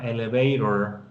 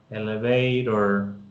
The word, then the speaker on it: elevator: Y por eso esta palabra suena elevator, elevator.